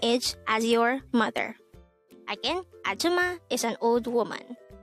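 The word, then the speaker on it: 아줌마: hangout word number 147 atuma atuma this is pronounced is a three syllable word the first syllable is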